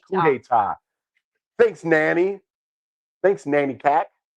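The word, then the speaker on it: coup d'état: It is coup d'etat. I said coup d'etat.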